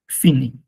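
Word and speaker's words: finir: তো আইর গ্রুপের ভার্বের মধ্যে সবচাইতে বেশি যেটাকে আপনার এক্সাম্পল হিসেবে দেয়া হয় ফিনি। সাউন্স ফিনি আরটা কিন্তু উচ্চারণ হবে না।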